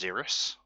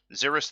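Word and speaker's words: Xyris: I believe it's pronounced Xeris. I believe so. I think actually looking at it. Yeah, Xeris the Writhing Storm.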